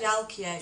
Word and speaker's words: Jalkia: Yeah, it's pronounced Jalkia, it means footprints.